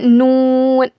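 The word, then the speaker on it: ن: Meme के बाद देखिए आता है नून।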